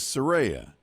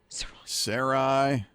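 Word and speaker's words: Soraya: pronounced differently every time it is serea s o r a y a we love it she loves it but it's mispronounced so often we get uh s sya Sarai uh just what was another one we had recently saroya it was just really different but it's spelled s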